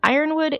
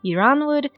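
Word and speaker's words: Yronwood: you can pronounce it Iran would you can pronounce it irin would it doesn't matter it's pronounced differently from different audiobooks and depending on who you talk to there is no one right way you can argue your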